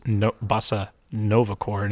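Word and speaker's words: Nova Corps: nova yeah i'm assuming nova core is spelled like the like like it is from the comics yes not c-o-r-e but c-o-r-p-s yes okay corpse yeah like the press corps right because i was also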